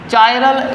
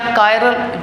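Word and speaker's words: chiral: चायरल या कायरल, जो भी आपने इसको बोलना है बोल सकते हो।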